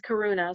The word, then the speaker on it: Karuna: want to make sure I get the right pronunciation. Is it Karuna? Yes, Karuna.